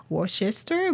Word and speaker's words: Worcester: It's spelled WOCSTR. It looks like Worcester, but it's not. It's Worcester.